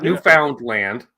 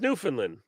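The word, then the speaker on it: Newfoundland: ah awesome see we still have to get him to say it right what that Newland not new found land it's Newland and Labrador yes well they get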